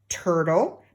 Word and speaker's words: turtle: The next word is curl, turtle. Now turtle also has the silent E on the end.